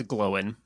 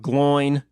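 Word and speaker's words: Glóin: First of all, it's Glowin', but except it's not, though. It's Gloin now. It's from now on, it's Gloin. There's no possible other way that can ever be pronounced by me.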